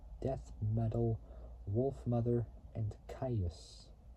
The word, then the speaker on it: Kyuss: Metal, Wolf Mother, and Caius. Or Caius, I can't pronounce it, but it's spelled Kyuss, which is an American stoner